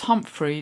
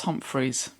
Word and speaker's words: Humphrey: getting your name wrong it's Humphrey not Humphries and we'll have an